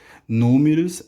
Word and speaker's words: números: Números é uma palavra proparoxítona, quando a antepenúltima sílaba é a mais forte.